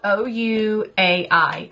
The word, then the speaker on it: Ouai: Ouai hair line, and it's spelled O-U-A-I. So I don't really actually know why they pronounce it that way, but that's what it's called, Ouai. Anyway, so I use this